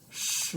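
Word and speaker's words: 十: This is our second tone. Second tone, the mark goes up. Goes up. Feel the pronunciation. Ling, shi.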